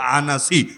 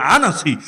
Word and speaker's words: আনাস: আর আসওয়াদকে চেনে আসওয়াদ আনাস আসওয়াদ আনাস অনেকে বলে আনস মূল উচ্চারণ আনাস এই দুইটা ভন্ড নবীর